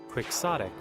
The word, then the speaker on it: quixotic: Quixotic. Quixotic. Okay. So it is pronounced like that. So it is pronounced as the way it looks.